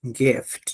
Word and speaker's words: gift: Accepted the gift. Ahí la i corta. Gift. No. Gift.